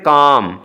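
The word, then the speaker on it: calm: फिर काम, तो यहाँ पे देख लें एल साइलेंट है और इस आवाज़ को हम लंबा करते हैं, लॉन्ग वाउल है, काम कहते हैं।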